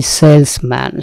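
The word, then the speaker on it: salesman: এরপরে দিয়েছি সেলসম্যান। সেলসম্যান কেন দিয়েছি? আসলে এটি সেলসম্যান না। সেলসম্যান টার্মটি নানা কারণে জনপ্রিয় হচ্ছে, কিন্তু এই সেলসম্যান, সেলসওম্যান, কিন্তু বিষয়টা কিন্তু সেলসম্যান না, এটা জ, উচ্চারণটা জ, সেলস ম্যান।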